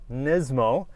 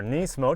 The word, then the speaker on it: Nismo: I'm in the Nissan Noara Nismo or Nissmo depending on how you say it.